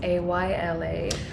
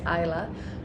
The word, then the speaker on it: Ayla: and you know but for him like you pronounce a y l a Ayla um for me as a Swedish person as well as a lot of countries you would say Isla for Ayla and for me Ila in Swedish is Ila